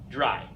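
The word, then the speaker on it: drei: Again, we have this EI combination. The EI together, of course, makes our I sound, dry.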